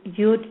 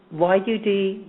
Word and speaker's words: Yud: the way, the name, the way it's pronounced for stopping fatal attractions into our life is Yud, Yud, Yud. Okay, it's just Y-U-D, Y-U-D, Y-U-D.